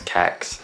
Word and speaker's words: CeX: banker at the end to see kex I think you're supposed to pronounce it sex but like who does that that's just weird I don't know if